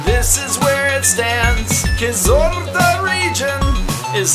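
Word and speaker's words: Kyzylorda: Kizorda region, is how you pronounce me.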